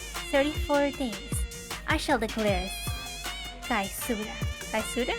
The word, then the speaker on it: caesura: Therefore, once the festival reaches 34 days, I shall declare Kaisura. Kaisura? I think Caesara. Because it's spelled like Caesar. Like Caesar, like Julius Caesar. Ah. Caesura, and bring this symphony to a swift conclusion.